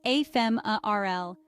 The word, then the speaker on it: ephemeral: for a short time the pronunciation is a fem RL with the stress on the second syllable use ephemeral to describe